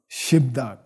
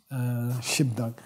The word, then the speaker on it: gzhi bdag: So and it's pronounced Shibdak. We pronounce the B, Shibdak.